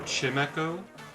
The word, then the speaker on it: Chimecho: people are wrong oh like chimco or chimecho i absolutely disagree with saying chin because it is supposed to be like a wind chime that feels like the